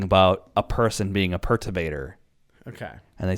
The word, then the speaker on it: Perturbator: Perturbator.